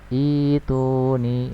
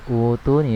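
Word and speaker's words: ائْتُونِي: Ini tidak ada mad badal, tetapi jika kita memulai dari ayat ini maka membacanya adalah ituni bikulli sahirin alim. Ituni ya, bukan utuni ya, tapi ituni ya.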